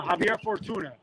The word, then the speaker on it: Javier Fortuna: Right now you actually at the fights, the big fight, Ryan Garcia versus, I always pronounce his name bad. Javier Fortuna.